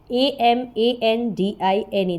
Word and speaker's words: Amandine: Amandine, that is Amandine.